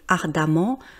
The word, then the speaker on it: ardemment: j'arrive à me repérer, mais ardemment, vous voyez, il y a un E et ça se prononce A.